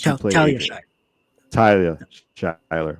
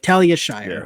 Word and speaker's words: Talia Shire: the leading role was tiia Shire she was tyia shler my apologies guys Talia Shyer she played Adrian